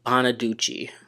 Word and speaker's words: Bonaduce: The next show is Breaking Bonaduce, and is that how you pronounce it? Bonaduce? Or is it Bonaduce? I always forget how to pronounce his last name. I couldn't walk, I couldn't keep my balance, I slurred really badly, I couldn't remember anything. Danny Bonaduce is that. It's Bonaduce. Okay.